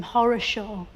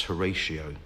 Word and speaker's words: Horatio: his parents call him Horror Show I think they probably intended it to pronounce Horatio but it just got mishmashed up and became Horror Show no I think that